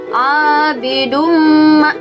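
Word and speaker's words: عَابِدٌ مَا: Di sini ada lafal abidum. Abidum. Di situ ada tanwin menghadapi huruf mim ya. Di situ ada tanwin menghadapi huruf mim. Nah, tanwin dhammah menghadapi huruf mim. Nah, kita hukumi sebagai idgham di gunnah.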